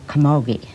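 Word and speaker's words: camogie: Actually, that's called Kamogi. Okay. And it's spelled C A M O G I E.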